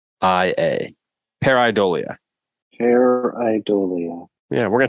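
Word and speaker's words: pareidolia: week is the word for this week is peridolia hair eye dolia so this is how you spell it p-a-r-e i d o l I a peridolia hair idolia yeah we're gonna take a minute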